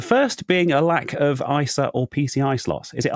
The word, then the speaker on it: ISA: Well, I say ISA and I get told off every time I say ISA. So today I thought I'd say ISA instead because this is the only other pronunciation I can think of.